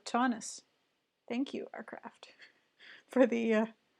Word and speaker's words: Taunus: Ah, it's pronounced like Tauntaun in Star Wars, so Taunus.